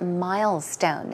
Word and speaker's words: milestone: Today we saw the word milestone as Peter was talking about the first year wedding anniversary or his first year wedding anniversary. Milestone. The stress goes on the first syllable, but keep in mind, it means anniversary.